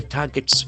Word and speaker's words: target: The first part is talking about Israel targets Iran's government. So the doer is Israel. What does it do? Target. Target. Target. T-A-R-G-E-T. Here we can observe that the middle R is silent.